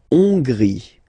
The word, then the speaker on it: Hongrie: La Hongrie. So remember, H doesn't exist, so you don't pronounce it. So it starts with on, and then gris. Final not pronounced.